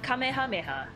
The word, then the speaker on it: Kamehameha: Ooh, did you see that dude's name was Kamehameha?That's how you're supposed to, properly pronounce it. Stop using Dragon Ball powers. Kamehameha!